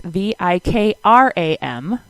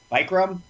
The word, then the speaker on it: Vikram: It's Vikram. Oh, there we go. Yes. It's not pronounced. What did I say when I first met you? Bikram?